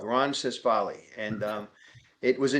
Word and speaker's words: Ronsisvalle: just the way it's spelled, Ronsisvalle.